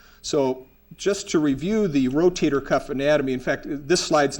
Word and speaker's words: rotator cuff: or tendinous cuff, or some of my patients will mispronounce it as the potato cuff. So that's what the rotator cuff is.